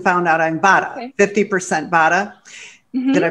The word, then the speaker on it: Vata: ayurveda test and found out I'm bottom 50 bada did I pronounce it right Vata yeah I mean I'm sure there's different ways